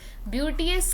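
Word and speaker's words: beauteous: ब्यूटियस का प्रोनाउंसिएशन ध्यान रखिएगा, ब्यूटी और फिर यस, तो वर्ड है ब्यूटियस।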